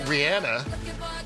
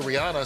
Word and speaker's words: Rihanna: Then a couple years after that became the How do you pronounce her name? It's actually Rihanna, but people called her Rihanna, so she just went with it.